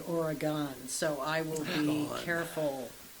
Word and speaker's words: Oregon: No, it's Oregon. Yes. Oregon. I've been So your taught medicine that hat at is work. so much easier to pronounce. Yeah, it's gun, like G-U-N. Oregon.